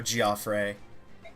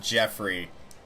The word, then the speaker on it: Geoffrey: And yes, that is how you pronounce his name. It is not Jeffrey. It is actually said by the narrator in the prequel of this game, and I know for a fact it is Geoffrey.